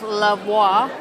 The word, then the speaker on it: La Voix: What a way to end our last night on Iona with La Voix, that's how you pronounce it, in the Limelight Club.